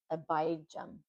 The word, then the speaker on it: Abijam: The word I didn't know how to pronounce the abi jam. It is abum.